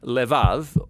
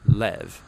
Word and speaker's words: lev: in this prayer heart which in hebrew is sometimes pronounced lev or more often in a shorter form lev now different cultures throughout